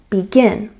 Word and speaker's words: begin: For example, the word begin, we have stress on the second syllable, begin.